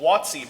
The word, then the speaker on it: WOTC: Wizards of the Coast called watsi by some because that's a really weird way to pronounce wotc but you know you